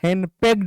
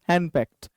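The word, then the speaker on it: henpecked: आगे चलो नेक्स्ट, हेनपेक्ट, यहाँ पर डी है ना, इसको हम टॉ पढ़ते हैं, आप इसको ड मत पढ़ देना, हेनपेक्ड मत पढ़ना, एक्चुअली इट्स हेनपेक्ट।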